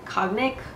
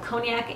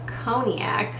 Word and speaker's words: cognac: the eyeshadow I'm an idiot I've been saying cognic cognac like I was pronouncing it totally wrong but now I know conac is c o g n a c so